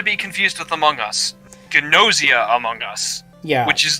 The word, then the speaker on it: Gnosia: nausea like you're sick it's you know it's it's got a g in front of it it's like pronounced like gnostic nausea among us yeah they they said gnosia oh my god yeah